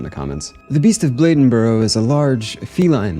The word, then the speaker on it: Bladenboro: going to say it okay just kidding it's Bladenboro my bad I'll say it right the Beast of Bladenboro at least that's what the pronunciation website said